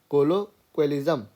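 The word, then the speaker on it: colloquialism: ठीक है, कोलोक्विलिज्म, इसको ना क्विल बोलते हैं, क्विल इस वाले हिस्से को, तो कोलोक्विलिज्म। ठीक, एक बार फिर से बोलो, कोलोक्विलिज्म।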